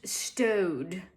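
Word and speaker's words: Staud: And then up comes sales associate, it's pronounced Stowed.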